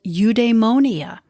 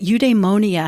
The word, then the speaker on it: eudaimonia: nickmachian ethics aristotle's concept of well-being was called eudaimonia that's spelled e-u-d-a-i m o n i a eudaimonia is a state of good spirit according